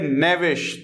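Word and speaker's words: knavish: फिर हमारे पास वर्ड आता है नेविश। देखिए प्रोनाउंसिएशन क्या है, नेविश।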